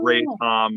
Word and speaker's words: RATOM: So that's why it's Ray Tom, which is anyway, yes, R-A-T-O-M, cool.